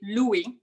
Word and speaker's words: Louis: wave he pronounced it he pronounces it louis the french way obviously it's so unbearably